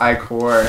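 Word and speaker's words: ichor: with magical echo or that's pronounced i-core same thing oh now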